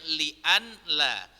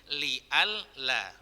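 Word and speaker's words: لئلا: Sebenarnya bacanya li'an la, berubah menjadi li'al la.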